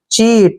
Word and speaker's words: cheat: इसका उच्चारण करते हैं हम, CH को च पढ़ते हैं, EA को ई की मात्रा लिखते हैं और T को टे। चीट, चीट होता है धोखा देना, चीट मीन्स धोखा देना, क्लियर।